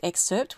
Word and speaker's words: excerpt: put in percent percent excerpt percent percent and make sure it's spelled correctly e ex c e r p t it has a almost silent P so it's exert with 2% at each